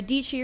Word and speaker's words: Dietschy: It's your girl, SARA, DIETSCHY, rhymes with Peachy.